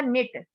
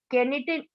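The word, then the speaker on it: knit: ठीक है, नेक्स्ट है आपका निट, केनिट, केनिट नहीं बोलते इसको, बल्कि क्या बोलते हैं, निट, यानी कि के की जो साउंड है वो क्या है, साइलेंट है, यानी कि के की साउंड नहीं निकल रही है, केवल NIT, निट, निट बोलेंगे इसको।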